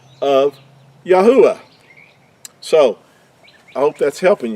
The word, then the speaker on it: Yahuah: give us the ah Yahoo ah would be how the Creator's name is pronounced now this is a